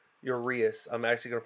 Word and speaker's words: Uraeus: I think what it stands for, and it's Uraeus. Uraeus. Uraeus. I'm actually going to pronounce it right and say it correctly for you guys for once.